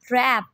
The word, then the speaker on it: wrap: W is silent in this word. Listen. T. Wrap.